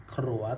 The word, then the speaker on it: ขรัว: โต นะ พี่ นะ ต้อง ออก เสียง ให้ ชัด ด้วย นะ พี่ นะ นี่ เลย นะ ครับ อ่า ขรัว โต นะ พี่ นะ